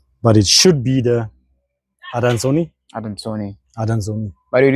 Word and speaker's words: adansoni: it should be the Adansoni. Adansoni. Adansoni. By the way, this is Latin, so you could guess why we are pronouncing the way we are.